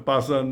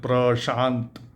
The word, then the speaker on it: Prashant: just, stop them because they are not able to pronounce that pra and sha, sa. So I just allowed them to call me Mr. Pasan, Mr. Pasan. I couldn't do anything. But if somebody if somebody in India here, Hindi speaker, or even other parts of India, I mean, even a Tamil person, he will know the pronunciation Prashant.